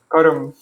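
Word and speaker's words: karma: But in Hindi, they don't pronounce the end even with words with conjuncts at the end. Like in Hindi, they would say dharm, dharm, and karam.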